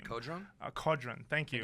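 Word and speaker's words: Qodron: So I'm not very good at pronouncing this boss's name. Kodron? Kodron.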